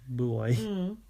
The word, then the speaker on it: buoy: Boy. Yeah, it could be. We call it a boy, though. Yeah, that's funny, isn't it? Because that's what it's called. They just say it wrong.